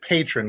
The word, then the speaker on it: Patreon: use that so so patron it's they pronounce it patron because I've watched all their seminars and all their different